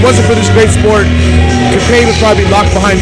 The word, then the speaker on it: Capane: Let me say my name correctly for you since you don't know how to pronounce it. It is Capane.